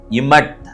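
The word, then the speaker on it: אמת: இன்றைக்கான எபிரேய வார்த்தை இமட் என்பதாகும். எபிரேய எழுத்துக்களை உச்சரிக்கிறேன். Olaf, செகோல், meme, செகோல், tau. Olaf, meme, tau, இமட்.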